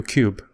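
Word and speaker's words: Qube: So I met Studio Cube. Actually, you guys should go online and do yourself a favor. Type in Studio Cube, Q-U-B-E. That's spelled Q-U-B-E with a Q, not a C.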